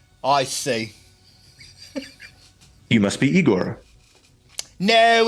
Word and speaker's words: Igor: it's Frederick Frankenstein I see you must be Igor no it's pronounced aore but they told me it was eigor well then they were wrong then weren't they